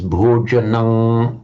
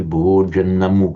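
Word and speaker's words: bhojanaṃ: pronunciation, would become as bhojanang upanamitam, bhojanang, with a long, heavy syllable, bhojanang upanamitam, which would be anomalous in Sanskrit, where, as I said, it would just be bhojanam upanamitam. And sometimes you get one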